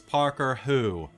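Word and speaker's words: Parker Hu: How do you spell it? H-U. Okay. Her name is Parker Who.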